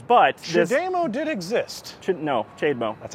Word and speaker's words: CHAdeMO: No, CHAdeMO.